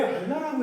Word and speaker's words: 알라: 그러니까 알 왜 알라고 했을까 궁금했어라고 했는데 여기이 반도에서 아라비아 반도에서 이들이 쓰는 언어가 있어요.